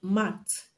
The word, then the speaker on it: marked: The last sound of the root word in marked is is a voiceless consonant. So it's not the correct answer because the past mark is going to be pronounced as t and not as d.